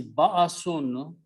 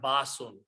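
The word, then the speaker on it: بأس: So the word is ba'asun, which means punishment. Always nouns are made with two dhammas here. And the sound is ba'asun, not basun, because there is a hamza there.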